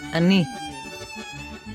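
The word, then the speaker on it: אני: by two vertical dots this is the sign for a very short or fast ah sound and note that after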